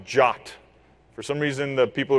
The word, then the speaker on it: JWT: token and it's pronounced it's pronounced jot for some reason the